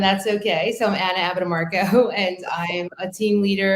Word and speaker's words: Abbatemarco: So I'm Anna Abbatemarco, and I'm a team leader and listing specialist